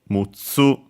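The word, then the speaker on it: むっつ: For 6, it is mu, with also this doubling of the following consonant, so mutsu. Should be accented on the last syllable, if I recall correctly.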